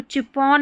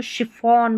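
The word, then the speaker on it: chiffon: निश अब आगे बढ़ेंगे तो यहां पर देखिए इसको चिपोन नहीं बोलेंगे। इसको शिफॉन बोलेंगे।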